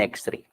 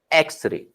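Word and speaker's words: X-ray: Like अगर लिखा गया है वर्ड एक्स-रे, अब इसके पहले क्या आएगा, इसके पहले आता है एन एक्स-रे, ठीक है, क्योंकि देखो इसका प्रोनाउंसिएशन किस तरह है, प्रोनाउंसिएशन इसका हो रहा है ए से, ठीक है, एक्स-रे।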